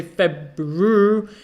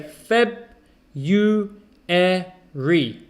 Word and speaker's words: February: february now uh february forget about the r we don't say february you can do but most people just say feb you re february number two was